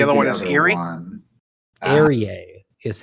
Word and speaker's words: Aerie: Aerie is how Aerie. Oh, God. apparently. I can never spell that.